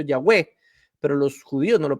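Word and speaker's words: Yahweh: nombre de Dios impronunciable nadie sabe cómo se pronunciaba aunque muchos le dicen que lo más posible es que haya sido yahwe pero los judíos no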